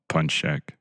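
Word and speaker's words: pączek: Punchek. Say it again? Punchek. Pun check. Yeah.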